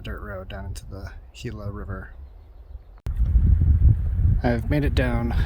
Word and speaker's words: Gila: and four people do the Gila or hila alternate as it's pronounced correctly so I only know